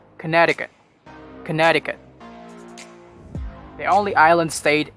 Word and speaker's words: Connecticut: this one very tricky you might be pronouncing this as connecticut it's not connecticut it's connecticut connecticut the only island